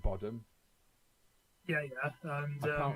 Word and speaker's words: Bodom: Children of Bodom so Bodom Bodom is how it's pronounced as in Sodom you know yeah yeah yeah no I I like botom yeah yeah and I